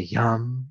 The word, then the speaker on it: Yam: And the Bija Mantra, or seed sound, of the heart center is Yam. It's spelled Y-A-M, but it's not Yam, it's Yam.